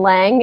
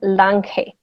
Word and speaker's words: Lange: sounds a little different my last name is certainly pronounced differently so in english lang in spanish it turns into lanke see it sounds a